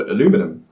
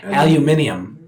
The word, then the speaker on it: aluminium: aluminum and yeah but in Britain it we retained aluminium after very very strange to me what sounds cool I can't say it like that yeah aluminium yeah they have you aluminum where just what are we doing what are you doing what are we doing we're keeping the eye in the middle short sound